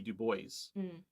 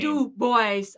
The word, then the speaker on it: Du Bois: black reconstruction by w.e.b du bois and yes his name is pronounced dubois that's how he pronounced his own name dude boys okay he said that it would rhyme with rejoice um so anyway uh